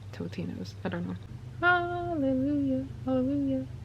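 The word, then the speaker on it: Totino's: time in my life I thought they were pronounced Tostinos I could have sworn there were Tostinos, but they're Totinos.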